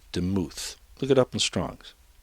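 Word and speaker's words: דמות: really teach it okay well here we go demuth it's dalit mem vowel is how it's pronounced demuth look it up in strongs now that's a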